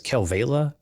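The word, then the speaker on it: Kalevala: uh i think it's calavela uh yeah it's been actually pronounced two different ways kelvila oh okay and then calavela i think all right i think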